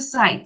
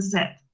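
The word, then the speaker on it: said: Pero no se dice site, se dice set. Como si cuando uno tiene set, set.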